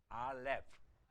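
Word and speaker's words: אָלֶף: 알렙. 알렙의 뒤가 F 발음이기 때문에 입술이 닿지 않습니다.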